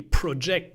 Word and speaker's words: project: So in project, you have to pronounce pro, not ject, because otherwise it would be project, the verb.